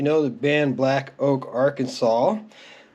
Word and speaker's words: Arkansas: the band Black Oak Arkansas or our Kansas depending on how you prefer to pronounce it um they tried to